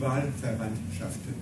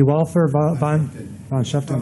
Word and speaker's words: Wahlverwandtschaften: Die Wahlverwandtschaften. Die Wahlverwandtschaften.